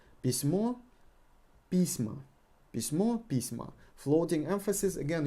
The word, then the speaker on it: письма: Письма. Письма. Письмо. Письма. We got a floating emphasis here.